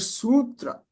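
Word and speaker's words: sūtra: Same thing with the word sutra. Okay. The middle, this s is a long sound.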